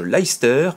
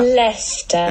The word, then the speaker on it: Leicester: les aventures de George Leicester, et non pas Leicester, s'il vous plaît. Oui, enfin, si vous voulez vraiment bien le prononcer, c'est plutôt comme ça. Leicester.